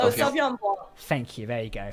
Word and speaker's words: Sauvignon Blanc: How would you say Sauvignon Blanc.